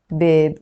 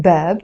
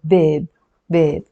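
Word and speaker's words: باب: word for example uh door in Arabic door is babe babe it has a B plus Al plus b or B plus plus here this if we're not going to pronounce it bab although some Arabic countries do pronounce it bab and in standard standard Arabic they say bab in Lebanese we will pronounce it as a bab bab so how am I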